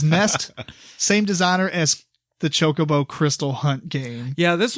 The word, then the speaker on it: Chocobo: It's pronounced Chocobo.